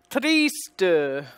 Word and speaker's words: triste: The S is pronounced here because it's in the middle of the word. And there's no reason for it to be anything else but an S, unvoiced sound.